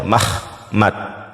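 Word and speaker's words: מחמד: Ini sebelumnya ha dibacanya mahmad. Oke. Mahmad nih seperti ini pelafalan nih. Pelafalannya mahmad.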